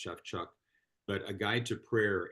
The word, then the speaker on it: Shawchuk: It looks like it says Shawchuk, but I was told one time that it's actually pronounced Shafchuk.